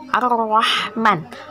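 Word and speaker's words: الرحمن: Crocs contoh kalimatnya adalah arohman arohman arohman alif lam bertemu dengan salah satu huruf Syamsiah yaitu adalah hoki bacanya ar-rahman dibaca melebur atau Idgham Syamsiah ditandai dengan huruf tasydid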